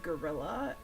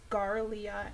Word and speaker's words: Garlia: and the IA and thought it was gorilla, because you know that's clearly not it. It's Garlia X. They were very kind and gracious to kind of say actually it's pronounced this way on Twitter, so thank you.